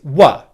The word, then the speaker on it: were: make the w sound let your lips relax into the uh position and then very simply hold the uh vowel sound like this if i put that into a phrase we were the second pronunciation of the word were is wha okay what you're doing here is very simply making the w sound and then just coming out of it into a schwa sound er alright the schwa